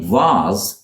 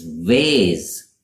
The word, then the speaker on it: vase: The same vase in the UK is vase in the US.